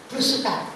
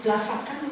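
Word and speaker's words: blusukan: It's blasakan or something? I think only Japanese can pronounce it well. Belusukan, it's not blasakan. So belusukan seems to be the keyword in this seminar.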